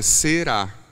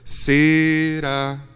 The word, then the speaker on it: será: no lugar adequado porque a palavra é será será mas ele dá a melodia pede a sílaba tônica na primeira sílaba então fica será será Então esse é o